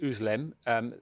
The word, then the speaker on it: Özlem: Is Ugur Sahin and his wife, I believe you pronounce it, Özlem.